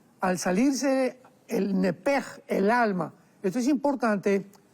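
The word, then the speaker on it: נפש: porque es la palabra nepesh con sh al final. Neph. En el hebreo se pronuncia eh la sh con j. Entonces, la pronunciación hebrea es nepej. Al salirse el nepej, el alma.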